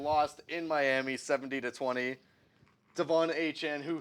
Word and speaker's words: Achane: Devon Achane, who said, by the way, two media interviews, he does not want his name to be pronounced A-Chain. It is actually pronounced A-Chan, so apparently.